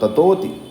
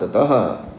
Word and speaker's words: ततः: और फिर त वदनात ततः ऐसा नहीं करना वना तत कर दिया अप वनात ततः तो आधा ता और पूरा ता बहुत स्मार्टली रिफ्लेक्ट होना चाहिए वन ततः निशक्राम मह